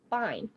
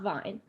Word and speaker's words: bine: I think a couple other brewers were there, but it was just cool to learn Bine, not Vine.